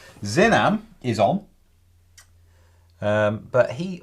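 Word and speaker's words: Xinam: you do uh and x i n a m is pronounced zinam zinam is on um but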